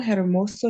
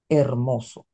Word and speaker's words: hermoso: hentet no H iate hermoso is no ag we completely ignore it Clear Enough a way